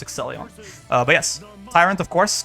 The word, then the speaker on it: Exelion: I said their name wrong last time. It's not Excelsior, it's Exelion.